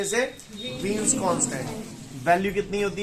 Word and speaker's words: Wien: इसका नोटेशन भले ही B से डिनोट किया जा रहा है, लेकिन ये जो वीन है ना, जो वीन मैं बोल रहा हूं वो W से स्पेलिंग शुरू होती है।